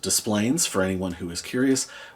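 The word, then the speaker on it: Des Plaines: It is pronounced Displayplains for anyone who is curious.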